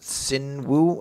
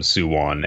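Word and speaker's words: Su-won: this is all how she loves, was it Sinwoo, I think is how you pronounce it? Sunwoo. Suwon.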